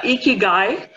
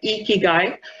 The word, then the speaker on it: Ikigai: take you all through this concept this word Ikki guy that's the way it's pronounced Ikki guy it's a Japanese word and what it basically